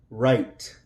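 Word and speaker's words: write: So we're going to, the W is silent and the E will be silent also. Right, right.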